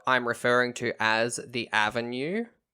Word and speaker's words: Avon: keep reminding myself that it's avon not avon because it's spelled avon but it's aven and i'm just picturing